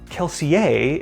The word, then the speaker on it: Kelsier: mistborn with her Mentor kelsier or keler if you were to pronounce it in Universe when he drops a